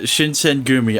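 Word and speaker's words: Shinsengumi: Yeah, Shinsen Gumi. I keep forgetting that's how it's said.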